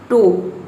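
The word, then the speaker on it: toe: यदि किसी वर्ड के लास्ट में ओ ई एक साथ हो तो ओ ई को हम ओ प्रोनाउंस करते हैं। ये ओ ई दोनों को मिलाकर हम ओ प्रोनाउंस करेंगे। जैसे कि देखिए यहाँ पे एग्जांपल है टो, टी का हो जाएगा ट और ओ ई का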